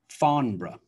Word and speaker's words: Farnborough: So we have Scarborough, Scarborough, Loughborough, Loughborough, Peterborough, Peterborough, Farnborough, Farnborough.